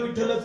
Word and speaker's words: विठ्ठल: मुखाने नाम मुखाने विठ्ठल विठ्ठलच का म्हणायचं त्याचही कारण सांगतो विठ्ठल ज्यावेळेस आपण विठ्ठल विठ्ठल विठ्ठल म्हणतो त्यावेळेस आपल्याकडून महाप्राणाचा उच्चार होतो ठकार हा महाप्राण आहे आणि त्या तुम्ही बघा